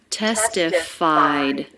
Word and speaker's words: testified: lower in pitch faster notice the ed ending here in testified it's just a sound it's the d sound so there's no extra syllable it's not a vowel and a consonant it's just a consonant and that's because the sound before was not a t or a d testified so just a light d sound at the end which